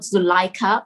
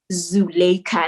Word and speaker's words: Zulaikha: It's not Zulaikha or Zulaikha, it's Zulaikha. And I had it in the phonetic, in the, breaking it up into little syllables, right?